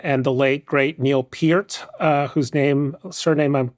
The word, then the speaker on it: Peart: Rush, the Canadian progressive rock trio of Geddy Lee, Alex Lifeson, and the late, great Neil Peart, whose surname I'm correctly pronouncing.